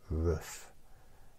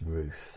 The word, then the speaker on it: roof: there's no there's no roof or you might pronounce it rof but it's not it's roof that's how it's supposed to be pronounced rof